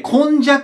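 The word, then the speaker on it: 今昔: ます平安にあと今に昔って書いて混じって読むんですけど混じ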